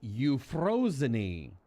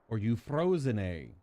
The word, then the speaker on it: Euphrosyne: brain how it's pronounced it's you frozeny are you frozen a something like that that's how it's pronounced I actually had to